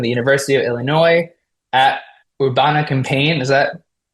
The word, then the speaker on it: Urbana-Champaign: Chow graduated from the University of Illinois at Urbana-Champaign, is that pronounced correctly? Urbana-Champaign.